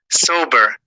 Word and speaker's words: sober: The correct pronunciation of this word is precept, precept. The stress is on the first syllable, and the vowel sound is not eh, but e.